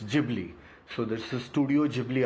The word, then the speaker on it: Ghibli: So just for all the viewers to understand it is GLY wherein that G that emphasis has to be on the G. So it's Gibli.